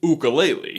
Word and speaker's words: ukulele: But after listening to a bunch of interviews with director Jim Murphy, I think the actual pronunciation is ukulele.